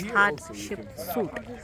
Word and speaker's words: Hatshepsut: The temple for Hatshepsut. That's how it's pronounced as Hatshepsut.